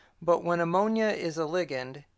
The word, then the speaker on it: ligand: While we're at it, there's a hot debate about whether to pronounce it ligand or ligand, and I'm just going to go with ligament, ligature, ligand.